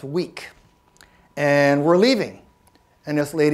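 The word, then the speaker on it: Vík: We're in a part of Iceland called Vik, spelled V-I-K, pronounced weak.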